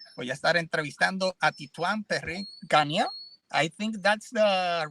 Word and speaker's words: Titouan Perrin-Ganier: Voy a estar entrevistando a Titouan Perrin-Ganier. I think that's the right pronunciation, right?